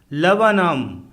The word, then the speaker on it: Laburnum: LABURNUM लवनम अर्थात अमलतास का पेड़, इसमें 2 बार U फॉर अम्ब्रेला आया है तथा R फॉर रैट साइलेंट है।